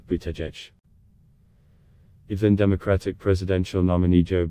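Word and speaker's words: Buttigieg: campaign made posters chants and t-shirts with the pronunciation bootech even democratic presidential nominee joe biden slipped up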